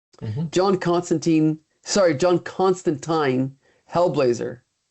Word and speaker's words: Constantine: but might be wondering why are you pronouncing his name so weird. It's Constantine and it's not.